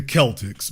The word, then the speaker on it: Celtics: you it's everybody says Celtic but it's actually they are the Kelts go take a look at any documentary about Irish history and you'll clearly hear them say the k KS so the Celtics I know in America you're used to seeing that done with a K if it's really going to be hard about that in the C if it's going to stand in for an S but it's actually the Celtics but don't worry I'm